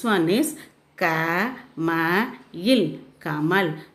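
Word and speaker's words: कमल: See, this one is ka ma il kamal. The last letter is la. So you should pronounce as il. Ka ma il kamal.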